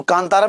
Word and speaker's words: कांतारा: आई ना कांतारा, तो कांतारा में भी आप देखो कि बिंदी को क्या बोल रहे हो, ना बोल रहे हो। इसका उच्चारण मां के रूप में तो नहीं कर रहे हैं, इसका उच्चारण ना के रूप में कर रहे हैं, क्योंकि आगे पा वर्ग का वर्णन नहीं है बल्कि ता वर्ग का वर्णन है, ठीक है ना, क्लियर।